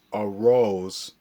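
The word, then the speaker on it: Arraez: I'm arose I finally found out how to pronounce this last name a rose I guess that's that's how they pronounce it in I'm not for sure what language but um I'm banking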